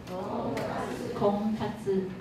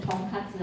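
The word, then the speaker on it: 婚活: 空卡兹，不要念成同卡兹啊，同卡兹变猪排了哈，炸猪排是空卡兹啊。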